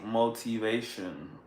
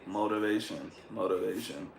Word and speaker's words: motivation: People that are not from America, or people that learn their accent, sometimes they say motivation. But an American would never pronounce they would never pronounce this T as a T. It's more like a D.